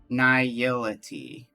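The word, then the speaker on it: Nihility: Niility. Niility. Yeah, that's that sounds right because it's nihilism. So, niility. I just was having a hard time putting the syllables together.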